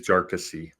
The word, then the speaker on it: Jarkesy: Now, the ask from Jarkesy, I found out that it's pronounced with 3 syllables. I've been saying it wrong for almost a year. It is Jarkesy.